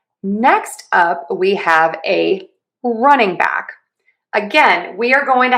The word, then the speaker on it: running back: So, to say running back, we are going to again stress run unstressing and then stress back. Running back, running back, running back, running back, running back.